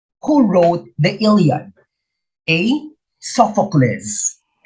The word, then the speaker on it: Sophocles: the correct pronunciation is sophocles first the accent is on the first syllable sophocless and euripides i used